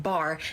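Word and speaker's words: בר: Earlier, we discussed how Beit and Resh together is pronounced bar, which means son, so there are words within this word.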